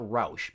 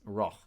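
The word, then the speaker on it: Rauch: downhill into Raj or how would they pronounce it in Austria it's not Roush but it's it's raw um into essentially a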